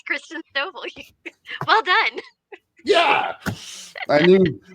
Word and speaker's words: Christen Stovall: I know I pronounced that right. Hey, Christen. You said it right. It's Christen Stovall.